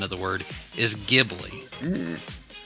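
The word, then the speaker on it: Ghibli: So he pronounced it with Japanese phonetics which is gibri. Okay. Gibli. He goes but the correct Italian pronunciation of the word is gibi.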